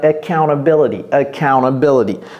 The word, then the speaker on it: accountability: Mais les Américains vont dire accountability. Ce T-là, ce T part complètement.